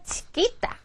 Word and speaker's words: chiquita: una chiquita 이것도 굉장히 많이 쓰는 말이죠.